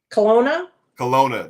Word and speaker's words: Kelowna: So 2003 was Ottawa, and 2008 was how you pronounce it again? Kelowna.